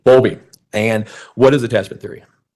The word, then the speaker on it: Bowlby: Okay, and it's Boundley. I'm mispronouncing that. Bowlby. Bowlby.